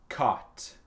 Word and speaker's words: caught: Et c'est caught. Caught. Donc, c'est silencieux, le GH.